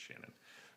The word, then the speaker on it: Seanan: Shannon is spelled Seanan. So I'm pretty sure it's Shannon. I don't know.